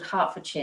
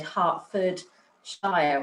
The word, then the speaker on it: Hertfordshire: know what i know i know hertfordshire is called hertfordshire now but i would have said hartford shire or something like that because i